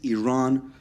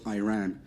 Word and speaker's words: Iran: the Iranian people but you're pronouncing our country's name wrong a country is named Iran not Iran please once and for all let's get this